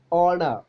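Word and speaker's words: honour: next the is silent in words such as ഓണർ ഹോണർ honest നമ്മൾ സാധാരണ ഹോണർ ഹോണറബിൾ prime minister എന്നൊക്കെ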